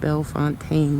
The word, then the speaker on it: Bellefontaine: body made it here we are now in Bellefontaine or some people call it Bill Fontaine which I think is the proper pronunciation and I don't know